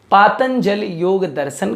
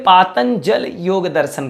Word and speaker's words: पातंजल योगदर्शन: द्वारा रचित है इसीलिए पातंजल योगदर्शन कहा जाता है आप कभी भी इसका उच्चारण पतंजलि योग दर्शन नहीं करेंगे पातंजल योगदर्शन यह इसका सही उच्चारण होगा दूसरा इसका जो नाम